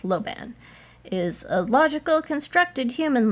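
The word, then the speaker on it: Lojban: know how to speak logeban if that let's is um it's just pronounced Loban is a logical constructed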